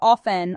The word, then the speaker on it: often: Some people say the t in often and some people don't. Both of 10 and offn are correct.